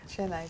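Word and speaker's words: Chennai: now lives in Shaha I believe could you pronounce that for me so we're clear chai chenai former Madras thank you so much and I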